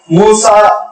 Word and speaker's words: موسیٰ: معنوں میں آتا ہے، اور موسیٰ ہم عربی میں تلفظ کرتے ہیں، عبرانی میں موشوے ہے وہ، جس کے معنی پانی